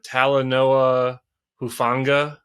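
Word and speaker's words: Talanoa Hufanga: little unknown um uh I remember how to pronounce his name uh tala Noah hufanga um second year linebacker out of USC he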